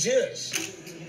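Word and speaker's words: jush: And we spell it J-U-S-H. We took the P out of push and just added a J. And that's jish.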